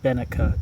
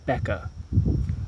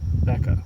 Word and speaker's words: Becke: Uh, I say Benka. It's Becca. Johannes Becca.